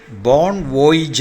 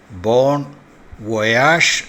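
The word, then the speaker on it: bon voyage: ഇത് ബോൺ വോയിജ് എന്നോ ബോൺ വോയേജ് എന്നോ അല്ല ഉച്ചരിക്കേണ്ടത്, ബോൺ വൊയാഷ് എന്നാണ്.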